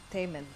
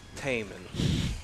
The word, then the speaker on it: Taman: Taman. Like Damon, but with the T. It's a little hard to pronounce. Matt Taman.